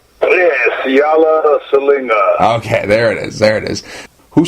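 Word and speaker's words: Siala Siliga: How do you pronounce your name? Siala Salinga. Siala Salinga. Yeah, Siala Salinga.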